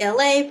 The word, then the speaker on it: Elay: what's up it's me L.A pronounced like la like the city I'm not from there